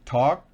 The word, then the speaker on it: talk: I talked, en presente, I talk. La L no se pronuncia.